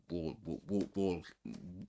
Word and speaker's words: walk: It's a silent L in this word. This one. Um walk we don't say walking.